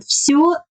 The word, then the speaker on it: всё: And всё, всё. In the last word всё, my lips are rounded and protruded.